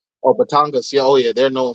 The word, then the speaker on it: Batangas: do you say batangas coffee yes oh batangas yeah oh yeah they're known for uh they